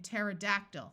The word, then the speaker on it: pterodactyl: c and in Psalms when a word starts with PT the P will also be silent like in pterodactyl which was a type